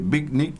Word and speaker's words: Vitnik: Está Karina Sáez, ejecutiva de cuentas, área comercial de Bicnic, ¿lo digo bien? ¿Lo pronuncio sí, bien?